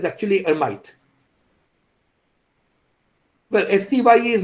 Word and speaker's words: Hermite: rule for that so we will call him hermite because it sounds more english that way but it's actually hermite well scye is not right the pronunciation is